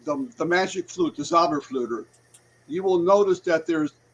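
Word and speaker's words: Zauberflöte: Magic Flute which was the zabber flutter which that's how you say it in German the zabber flutter um his his um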